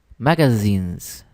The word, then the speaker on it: magazines: todavía que es este magazines tiene una pronunciación muy interesante porque la zeta en inglés es así como con un sonido de abeja sí sí entonces termina en jeans jeans magazines es bueno practicarla